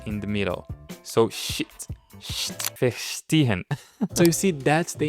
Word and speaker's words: verstehen: And then he taught me how to say the ST sound in the most creative way. Because for example, I was saying verstehen when it was supposed to be verstehen.